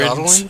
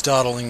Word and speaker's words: dawdling: Dwaddling? Yeah, dwaddling. It's dawdling, not dwaddling.